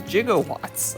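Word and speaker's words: jigowatts: of the future universe it is jiggle watts officially is gigawatts it's not in gigawatts it's gigawatts gigawatts don't exist in this universe gigawatts it's a gigawatts echo is spelled j-i-g-o as opposed to giga which is g-i-g-a do i post not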